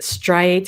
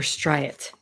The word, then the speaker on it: striate: Two ways to pronounce it, striate or striate.